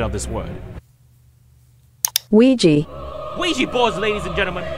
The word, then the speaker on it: Ouija: God, it may seem unrelated, but I've asked a data analysis expert to give us the proper pronunciation of this word. Ouija.